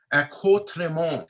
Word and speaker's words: accoutrement: And the word is actually derived from a French word, and it's pronounced in French accoutrement. So accoutrement, again, is a word